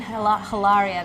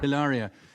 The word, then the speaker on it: Hilaria: It's not even hilaria. There is no H. There's no H.